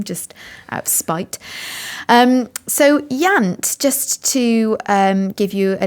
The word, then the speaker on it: Iant: His first novel is called Yant. That's spelled IANT, and it was released